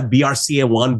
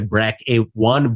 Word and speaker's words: BRCA: the uh the we some people say it's a brca1 brca 2 some of the oncologist actually pronounce them as a bra A1 bra A2 so uh everything is correct I guess so these